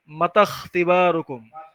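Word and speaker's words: متى اختباركم: তো এরকম চিহ্ন থাকলে সামনের হরফের সাথে ওই হামজার পর হরফটাকে মিলায়া পড়তে হয়, আর হামজার উচ্চারণটা বাদ যায়। তাহলে এখানে কি হয় মাতা, এখানে মাতা, তাহলে তা গিয়ে সরাসরি খ সাকিন, এটাকে ধরবে। মাতাখ, মাতাখ তিবারুকুম, মাতাখ তিবারুকুম, তোমাদের পরীক্ষা কখন।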